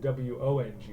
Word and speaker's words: Wong: Um but I guess you um that one if they if they were given wo n g which is sometimes like the Cantonese spelling of that name then it's e then they have no choice but to say Wong.